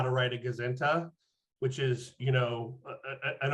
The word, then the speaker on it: gazinta: It's called a gazinta, which I think is spelled Gazinta, but it really is a sort of contraction of goes into.